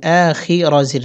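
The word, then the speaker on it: الآخر: হি ওয়াল ইয়াউ মিল আ খি রাজির রি আ খিরি এখানে আমরা অকফু করবো। অকফু করলে র সাকিন হবে উচ্চারণ হবে আ খির।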